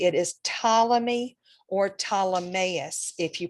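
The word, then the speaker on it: Ptolemy: astronomer and scientist and you don't pronounce the P it is tmy or tus if you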